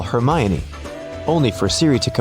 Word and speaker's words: Hermione: Call Hermione." only for Siri to comply with calling Herion.